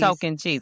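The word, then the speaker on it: Tocantins: Anytime I got to say token teens, I'm going to say coke and cheese. Cheese. Token cheese. I know it's I know how to say it cuz of Coke and cheese.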